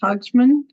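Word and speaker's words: Haagsma: Our guest speaker today is Autumn Hogsma. Is that how you pronounce it?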